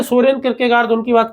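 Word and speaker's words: Kierkegaard: किरकेगार्द। किर के गार्ड कई बार इस पर छोटी मात्रा भी लगा देते हैं।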